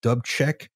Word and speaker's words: Dubček: I believe the prime minister was Alexander Dubček. I don't know how to pronounce that. Dubček, yeah, it's Dubček.